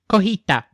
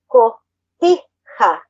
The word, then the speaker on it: Cotija: Cotija. Cojita. Cotija. You gotta pronounce, so, Co. T. Ha. Ha.